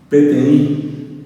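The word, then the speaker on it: peteĩ: PTI, y se escribe P-E-T-E-I nasal. PTI, así como escuchan, sin uso, pero con la I nasal.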